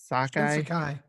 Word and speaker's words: Shinsekai: But the game that had me diving in right away, no pun intended, was the Shinsakai. Shinsekai.